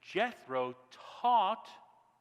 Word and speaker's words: Jethro: And Jethro is how you say Yitro in English.